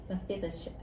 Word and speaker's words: Mephibosheth: And so here in this lesson, we are talking about Mephibosheth.